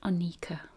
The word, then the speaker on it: Anika: Pronounced Anika.